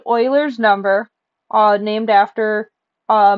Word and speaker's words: Euler: it's spelled like Euler's but the name is pronounced Euler's and a natural log is a log with